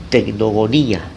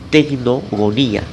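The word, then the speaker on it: τεκνογονία: Ahí la frase tener hijos en el griego es tecnogonía. Tecnogonía. Se escribe así.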